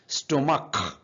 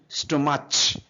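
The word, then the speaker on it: stomach: স্টোমাক, এটা কিন্তু স্টোমাচ বা চ এর মতো উচ্চারণ হবে না, এটা ক এর মতো উচ্চারণ হবে, স্টোমাক।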